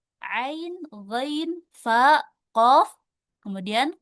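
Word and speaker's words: عين: Ini juga bukan dibaca a tapi ain.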